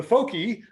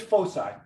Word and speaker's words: foci: it you know so if i was up here teaching and i said the folkie it's it's foci all right so with